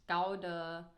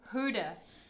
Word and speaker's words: Gouda: that I could find to Eden is this Gouda. No. Well, I thought the baby bell is gonna be No, actually, what's closer. the actual pronunciation? of Gouda. this? No. Gouda. Huda.